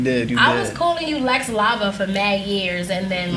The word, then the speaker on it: Lex Lavo: So let me introduce Lex Lavo. Am I saying it right? Yes. Did I put like the Spanish little touch to it? Nah, you did. I was calling you Lex Lavo for mad years, and then like that's Lava, right?